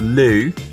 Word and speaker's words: Looe: We have finished our breakfast and we are heading out into the local town of Lou, which Rya insists on pronouncing L because it's spelled L O O E.